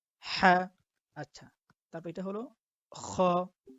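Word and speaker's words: خ: মুখ থেকে বলি, কিন্তু যখন আমরা আরবিতে খ বলবো তখন তার উচ্চারণটা হবে গলার ভিতর থেকে।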